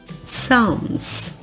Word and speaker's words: Psalms: Você não pronuncia esse Pzinho, por mais que você tenha vontade de pronunciar, não pronuncia, ok? Psalms, ele é mais seu, né? É um P que só está presente em você. Psalms.